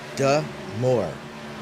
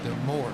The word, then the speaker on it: Du Moore: So uh we have somebody in chat that's going to help you with the pronunciation of uh Austin's name and it's Du Moore. Dmore.